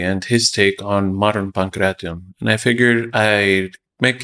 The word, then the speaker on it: pankration: It's pronounced Pankration. It's supposed to be 4 syllables.